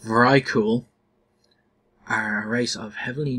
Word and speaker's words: Vrykul: Vyrkul, pronounced Vrykul, are a race of heavily Norse-themed half-giant warriors native to the Howling Fjord located in southeastern Northrend.